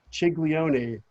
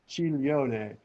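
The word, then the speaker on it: ciglione: parallel running valleys um the chileone again another silent g people it's not giglio it's giglio it's not chiglione it's chi lyone it's the diphthong gl forms the ll like million chileone a particular type of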